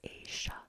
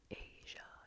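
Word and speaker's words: Aysha: See, I know an Asia with a name spelled A-Y-S-H-A. It's not Asia, it's Asia, Asia, Asia.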